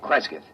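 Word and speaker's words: Cresgyth: record it instead as um well, I'll I'll spell it. C R E S G Y T H. Kreskith.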